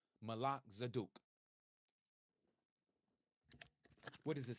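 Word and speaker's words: Melchizedek: You may know it as Melzdc. True pronunciation Malak Zaduk.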